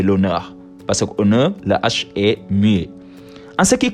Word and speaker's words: l'honneur: aspirer un h muet exemple j'ai l'honneur au départ j'ai le honneur mais on dit j'ai l'honneur parce que en ce